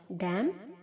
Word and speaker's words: damn: डैम, DAMN को भी डैम। Okay, N silent है।